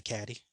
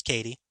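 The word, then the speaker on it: Cady: orphaned eight-year-old niece Katie it's spelled c-a-d-y so you want to say caddy I I apologize it's Katie um Jim is unsure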